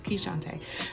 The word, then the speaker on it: Keishante: never introduces herself but yep that's how you pronounce my name so it's keyshante so i just want